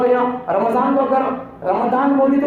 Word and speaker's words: رمضان: جو بتا دیا تھا رمضان بولنا، رمضان نہیں اور رمضان بھی نہیں. کیلنڈروں کے اندر لکھ رہتا ہے RAMA بول کر، ڈی نہیں وہ زڈ لگانا.